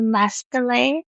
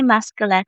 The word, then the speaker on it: Masquelet: to Masquelet, or to not Masquelet. I wanted to say Masquelet, but it is Masquelet.